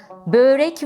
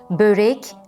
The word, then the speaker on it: börek: sesleri uzun söylememek gerekir böğrek ve çörek deme hatasına da düşmemeli börek çörek şeklinde ö seslerini uzatmayacağı şu iki kelimede ise